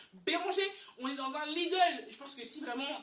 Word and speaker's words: Lidl: Lidl, je prononce bien Lidl.